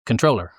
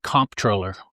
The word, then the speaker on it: comptroller: in traveling the state I looked in the dictionary how do you say this and the dictionary says controller no M no P um traveling the state and running for office we're going to call it comproller because that is how